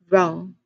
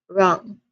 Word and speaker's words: wrong: What word do you think has a silent letter? You have the wrong number. Okay, the word here is wrong. Again, wrong.